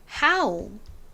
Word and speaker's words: how: no니까 어우 발음이 낫죠 근데 여기서는 어우 발음이 아니라 아우 발음이납니다 그래서 How 요렇게 발음이나요 no와 하울을 해석해보면 no 알고